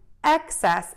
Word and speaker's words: excess: together access access access the difference between access and excess is mouth opening so I'm going to